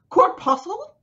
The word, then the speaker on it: corpuscle: He's like, everything is full of these, and I don't know how to pronounce it because everyone complained. Corpuscle? Corpuscle?